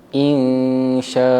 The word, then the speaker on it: إنشاء: Cara bacaan yang betul adalah insyaa.